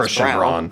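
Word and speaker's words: Christian Braun: What it's pronounced Christian Brown.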